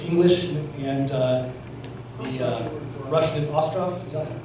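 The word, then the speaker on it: Остров: The Island is the English, and the Russian is Ostrov. Is that how you pronounce it?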